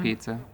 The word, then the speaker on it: Pisa: It was about the Leaning Tower of Pisa, and we got all this It's styrofoam. pronounced pizza. Yeah, that pizza tower.